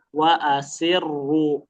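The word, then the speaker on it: وَالْعَصْرِ: Nah ini ro-nya tebal apa tipis? Tebal. Tebal. Meskipun sebelumnya didahului oleh kasrah, tapi kalau dia posisi tasdid fokus pada kondisi rnya aja domah. Gimana bacanya? Wa asir langsung tebal tuh. Wa asir wa asirru. Wa asirru wa asirru. Bareng-bareng. 1 2 3. Oke coba ada yang bela wa asirru. Nah sin jangan jadi shad.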